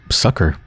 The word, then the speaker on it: succor: Succor? She rasps. Let them stay. Yeah, it's pronounced sucker.